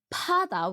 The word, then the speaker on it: 바다: You might say I sound like 바다 with P, but the funny thing is Korean people would just say that I pronounce B.